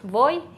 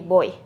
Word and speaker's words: voy: vez suenan exactamente igual suenan como be solamente que ahora por influencia del inglés mucha gente lo dice como pero en realidad no hay diferencia entre voy y voy así que seguramente me escucharán pronunciarlo de las dos maneras aquí tengo una tablita